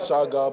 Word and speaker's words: Shaka: I played was sh his pronunciation is Shaga but spelling is Shaka um what I've been